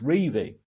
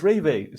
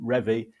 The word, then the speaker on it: Revie: my mum asked Don how to pronounce his surname. And it's Revie. It's Revie. So don't get me wrong, because I'm annoyed at you for doing that, because people will think, oh yeah, you pronounce it Revie now. But the thing is, some of my absolute heroes always called him Revie, and I don't want